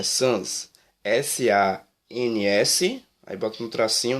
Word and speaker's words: sans-culottes: Deixa eu dar uma olhadinha aqui se eu estou pronunciando certo a palavra. Isso. Não, perdão, é sans.